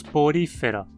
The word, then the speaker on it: Porifera: Novamente, a regra da penúltima sílaba justifica a pronúncia como uma proparoxítona.